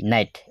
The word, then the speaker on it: night: অইন শব্দ নাহিব কিয়নো ইংৰাজী অৰ্ডৰ মাজত যদি GH থাকে তেতিয়াহ'লে এইটো সাইলেন্ট থাকিব আৰু তাৰ আগত I থাকিলে I টো I হ'ব যেনেকৈ এইটো BRI ব্ৰাই GHT ব্ৰাইট NIGHT নাইট NI নাই GHT নাইট